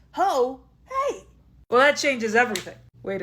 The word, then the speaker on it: Ho Hey: It's not heyiho, it's ho hey.